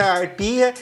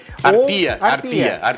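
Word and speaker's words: Harpia: Quem tem alguma dúvida, Instituto Arpia. Arpia. Mas é com H, às vezes é a pronúncia só.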